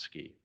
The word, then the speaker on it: SCI: idea why don't we call ourselves scientific Computing and imaging and pronounce ski and we all said